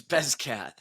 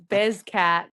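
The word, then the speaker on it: Bekzat: It's Bezat. Bezat.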